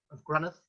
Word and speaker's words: Grunneth: And I expected no less, but I was very impressed that with the pronunciation of Grunneth. And just for anybody who perhaps isn't aware, that is how you pronounce it.